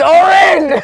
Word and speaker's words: Orin: man hey I'm Lou my name's not Aaron sorry how do you pronounce it what's your name we've known each other for 10 years Lou he says he keeps saying that tell me once more my name is Orin so Orin yeah